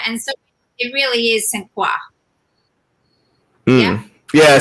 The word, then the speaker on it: St. Croix: It's probably pronounced that way with a French accent. Because the OIX. Croix.